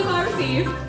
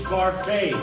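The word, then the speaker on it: Barfée: William Barthy. It's Barfay. There's an accent aigu.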